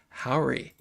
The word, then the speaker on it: Jauregui: Everyone, please put your hands together for Yahara Howry.